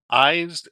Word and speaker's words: IJs: I'm Eyes Springborn, he says, pronouncing the name like eyes. Oh, it's spelled IJS.